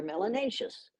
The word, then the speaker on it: melanous: you have more melanin you're melanous which rhymes with spacious and gracious and efficacious it's a good thing